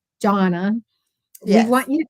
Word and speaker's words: Johnna: I always want to call you Johanna, and it's Jonna, It's Johnna. Like Jonna, John.